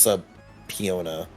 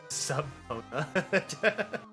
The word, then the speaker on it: subpoena: and do your first subpoena. Subpoena. Yeah. That's not how that word is spelled, but that's how it's said. Yeah. I promise. Subpona.